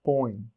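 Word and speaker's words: põe: in Portuguese is pronounced Boeing Boeing this is the most fun where the pronouns ever Boeing Boeing Boeing just think of the company Boeing or just the springy sound Moin Moin Moin and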